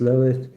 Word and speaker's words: Lilith: Lilith, pronounced Lilith, is known in Jewish mythology as the first created woman.